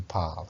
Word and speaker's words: parles: Tu parles. We don't pronounce the S.